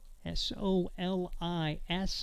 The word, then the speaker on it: Solis: S-O-L-I-S, but pronounced Solis.